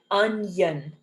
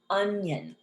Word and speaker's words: onion: or an i sound in this word we pronounce it as a y onion onion all right and the